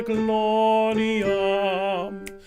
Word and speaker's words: gloriam: Sed nomini tuo gloriam. Excellent. Just a couple of things there. So when you're seeing gloriam, can you give that an extra syllable?